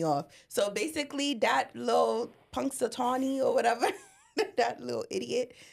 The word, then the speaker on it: Punxsutawney: Oh, it's Punxsutawney. Sorry, I just really had to figure that out because it was going to piss me off. So basically, that little Punxsutawney or whatever, that little idiot, he comes out,